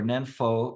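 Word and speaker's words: nianfo: we say the Nembutsu, or Nenfo in Chinese, that's how they pronounce these characters, is that means a practice.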